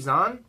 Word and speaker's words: Zahn: Steve Zahn? Is that not how you pronounce his last name? Steve Zahn, yeah.